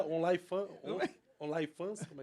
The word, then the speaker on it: OnlyFans: Como é que pronuncia? Online fan? Online fans? Como é que é? As meninas... OnlyFans.